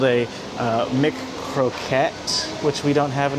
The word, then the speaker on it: McKroket: So this is, how do you pronounce this? McKroket. McKroket.